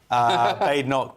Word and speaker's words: Badenoch: Well, put that, like I said, Kemi Badenoch, when I finally know how to pronounce her name properly, Badenoch.